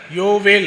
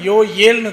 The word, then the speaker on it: யோவேல்: சோ அப்படிங்கிறப்ப நாம Bible படிக்கும் போது கூட யோவேல் அப்படின்னு சொல்லி படிக்கக்கூடாது. எப்படி நம்ம தானியேல் அப்படின்னு படிக்கிறோமோ அதே மாதிரி பாருங்க நிறைய அந்த மாதிரி எல்லாம் வரும். அந்த வார்த்தைகள் வரும். அந்த மாதிரி நம்ம யோவயேல்னு தான் என்ன பண்ணனும்னா நம்ம உச்சரிக்கணும். அதுதான் சரியான உச்சரிப்பு.